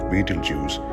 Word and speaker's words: Betelgeuse: will eventually blow up a certain beetlejuice sometimes pronounced beetle juice and also known as